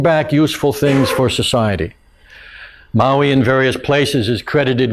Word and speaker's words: Maui: Not the island, Maui, in fact it's Maui, if you want to pronounce it right.